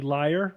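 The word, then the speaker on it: lyre: so l y r l y r e liar yeah okay it's pronounced liar but I don't that Bob like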